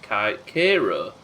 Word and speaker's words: Cairo: missouri is named for cairo illinois so it's pronounced kira so pronouncing cairo like they do is on